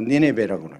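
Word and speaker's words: Nineveh: 영어 발음으로 니네베라고 있는데 아수르의 압박 통치를 받고 있던 바벨로니아가 옛날부터 있는 나라였지만은 신바벨론이라고 그래요.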